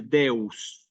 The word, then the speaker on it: deus: importante que se escuche deus que se escuche bien Clara la s hay aquí una cuestión